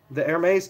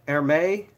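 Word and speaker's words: Hermès: a horse but the ermes ties they all have like one pattern okay air may ermes says the H is silent so yes I don't know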